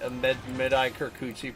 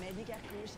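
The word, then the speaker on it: Mehdi Kerkouche: This is that Mehdi Kirkuchi person now. Hi, dancers. I'm Mehdi Karkouche and welcome. Okay. It's a very different pronunciation than I thought.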